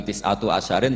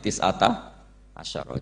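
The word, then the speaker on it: تسعة عشر: tisata Asaro utawi Solong tetap bacanya bukan tisatu asarin tapi tisata Asaro jadi kita tahu secara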